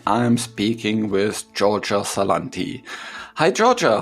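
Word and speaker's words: Salanti: am speaking with Georgia salon T hi Georgia how are you doing hi I'm doing well and thank you for pronouncing my name properly most people called me salon t saying so much and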